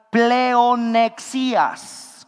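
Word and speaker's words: πλεονεξίας: Es la palabra griega pleonexias, con X y acento en la I.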